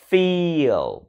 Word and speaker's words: feel: Cái chữ feel này nè các bạn, nó dùng âm y dài, là cái âm y tròn chỉnh đó. Mình đọc là y, feel, phi xong rồi đó, cái hơi còn lại của âm y đó mình phát cái âm o, là đưa lưỡi lên vị trí của âm l để phát cái âm o đó các bạn.